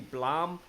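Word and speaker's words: Blame!: B L AM II if you pronounce this blame but it's actually Blum its face block man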